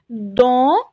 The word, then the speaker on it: dans: important dans، نفس الحرفين هم A N تتنطق en، dans la société، la société et dans la littérature française.